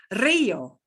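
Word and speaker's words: río: r yeah okay now if a single r is the first one of our word it's still going to sound like that strongly trill double r so we get rojo red we get the word for river rio hurry it's hard to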